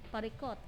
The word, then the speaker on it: parikot: Sa Ilocano, pariket, ken, solusyon. Parikot. Alam mo bakit nag-e yun? Yung mga Ilocano kasi, it's not okay, parikot. Yan. That's how they pronounce it.